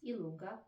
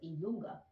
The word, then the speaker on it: I lunga: So the J, that you say J, we pronounce it I lunga.